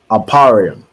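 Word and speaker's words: אפרים: see go ahead T aparium right aparium is how you say ephra in the Hebrew and it means I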